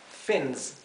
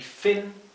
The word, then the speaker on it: fin: Y fin, aleta. Fíjense que la I se pronuncia más cerrada que la I del español. No es fin, es fin. Es una I más cortita y más cerrada.